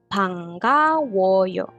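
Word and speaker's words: 반가워요: woyo panka woyo Eh ada n ketemu sama g dibacanya Eng jadi pangkaoyo pangkaoo salam kenal gitu Ini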